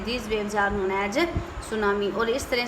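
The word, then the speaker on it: tsunami: इट is pronounce as सुनामी।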